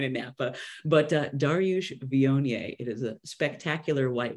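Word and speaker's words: Viognier: heard of the white wine vionier before it looks like Wagner like it's spelled weird um but it's a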